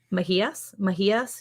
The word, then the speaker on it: Mahias: Mahias Rescue Ranch. Did I say it right? Mahias, yeah.